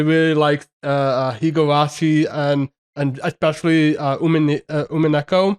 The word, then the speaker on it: Umineko: likes Higurashi and especially Umineko. Is that how you pronounce it? Umineko, yeah.